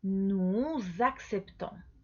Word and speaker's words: nous acceptons: a empezar por vocal, vas a hacer una liaison, entonces una conexión del sonido. Entonces vas a pronunciar nous acceptons, ¿ok? Porque normalmente no pronuncias este S, ¿sí? Pero aquí está con vocal nuestro verbo.